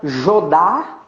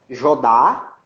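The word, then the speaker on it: Jodha: Se chama Jodar Akbar.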